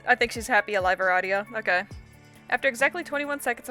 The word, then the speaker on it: Aradia: It is pronounced Aradia. That makes sense. Although you've just met, you cannot fathom her name being pronounced any other way. Your new potential friend Aradia is looking a little...